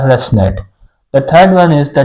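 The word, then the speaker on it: ResNet: the second one is the residual neural network pronounced as the rest net the third one is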